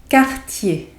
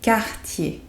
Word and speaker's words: quartier: Le dernier, le quartier. Le quartier. Like the brand of jewelry, no Cartier, but for the brand it's written with a C and here with QU, but it's the same pronunciation.